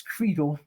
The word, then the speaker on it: Credle: new doctor, I'm like, it's Credle. But my husband's family pronounces it Cradle.